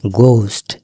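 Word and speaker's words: ghost: বলি এর উচ্চারণ হচ্ছে গোস্ট এইচ এর উচ্চারণ হবে না এই গোস্ট মানে কি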